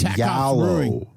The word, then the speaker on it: gallo: That's right, yallo. That's how you pronounce the word gallo. It's not yellow like some people think.